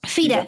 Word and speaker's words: FIDE: do you if i do you say the initials or is it called feed it how do you pronounce that feta yeah you can say so fida you have a a